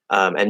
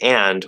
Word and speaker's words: and: Okay, so here for and, we have and, an, in, un, n. So there's 6 right answers for how to pronounce the word and. This is a special word. That doesn't happen for all words. It's a special word, but there's 6 ways that you can say it, especially in fast speech.